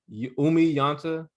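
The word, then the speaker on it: Oumi Janta: Instagram at Umi Yanta. For those listening, it's spelled OUMI_JANTA.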